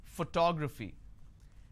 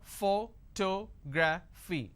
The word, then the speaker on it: photography: Photography. And how many syllables do I have here? Photography. 4 syllables. But in this case, I stress on the second syllable.